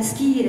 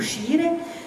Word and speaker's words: scire: Et il en est de même pour la famille étymologique du latin scire, hein, pour le prononcer à la classique, ou scire.